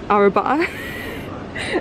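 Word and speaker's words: arrabbiata: So apparently, that is Arabiata.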